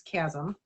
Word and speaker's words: chasm: We actually had to have Chad do some research to help me learn to pronounce this word because I had just a hard time. Turns out it's chasm.